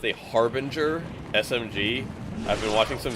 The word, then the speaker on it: Harbinger: By the way, folks, it's pronounced a Harbinger SMG.